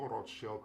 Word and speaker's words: Rothschild: Jadi di video ini gue bakal pronounce Rothschild itu dalam bahasa Inggris saja ya. Kalau pakai bahasa Jerman kan dia pronounce-nya itu Rothschild kan. Cuman biar kalian yang udah pernah dengar nama ini tuh kan lebih familiarnya dengan Rothschild, bukan Rothschild.